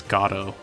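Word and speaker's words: Godot: Ace Attorney 3, uh I'm going to be pronouncing the prosecutor's name as God. Uh cuz that's like the the origin of the name. Like the guy who came up with the name says it's pronounced God.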